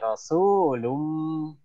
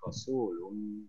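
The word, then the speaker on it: رسول: Rasulum. Nah, ini matopi ya. Tadi kamu kurang panjang. Rasulun, seharusnya panjang dia. Kamu bacanya cuma satu harkat.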